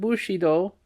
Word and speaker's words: Bushido: In my attempts to give satisfactory replies to Monsieur de Leveillé and to my wife, I found that without understanding feudalism and Bushido, footnote, pronounced Bu-shi-do, in putting Japanese words and names